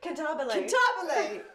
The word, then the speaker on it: cantabile: Cantabile.